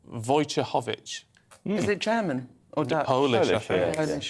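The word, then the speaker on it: Wojciechowicz: a married name uh it's spelled w o j c i e c h o w i c says oh my goodness how do you say that and void chick no but the number of times i just have to introduce her on stage and things and it never worked well so in the end in my phone i've had to put it in phonetically uh uh voucher hovich is it german or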